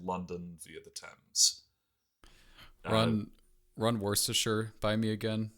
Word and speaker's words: Worcestershire: These included the Staffordshire and Worcestershire Canal, which, by the way, for everyone who has ever wondered how the hell that sauce is pronounced, that's how.